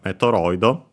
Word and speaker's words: メトロイド: uh and so uh for the t and the d sound they add o instead and yeah that's why we have metido as the reminder uh